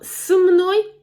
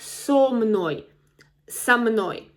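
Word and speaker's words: со мной: So, again, it's it's not s m n o y, but so m n o y. So, here is a cluster again of two consonants, m and n. So, it's difficult to pronounce s m n o y. Three consonants in a row. So, we need to insert some vowel.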